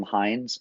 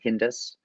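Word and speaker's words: Hindes: his name is tim hines not spelled like the ketchup or the football field that's a big pittsburgh family the hindsight's uh his name is spelled h-i-n-d-e-s uh hindus uh is how i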